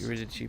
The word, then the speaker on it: Eurydice: Eurydice, pronounced like an Italian word, much like Beatrice.